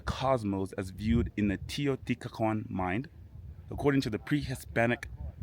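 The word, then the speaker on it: Teotihuacán: Teotihuacan. Teotihuacan is how you pronounce this place.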